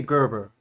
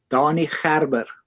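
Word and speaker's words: Danie Gerber: uh Danny uh see I want to say Gerber because that's how you pronounce it in English but what's the right pronunciation of it? Donnie Harour.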